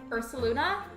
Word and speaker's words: Ursaluna: It's pronounced like Ursaluna. So like it's almost like combining the names Ursula and Luna.